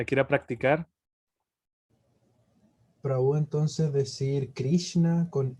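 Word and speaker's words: कृष्ण: bien vamos a ver la s tienes que ir hacia la lengua hacia atrás un poquito no no la lengua hacia atrás sino la punta de la lengua se pega al paladar y se se hace hacia atrás un poco y ahí se pronuncia lambert grave 13 en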